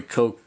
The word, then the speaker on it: Koch: And this is a very cool Enjoy Coke classic, because that's how you say it.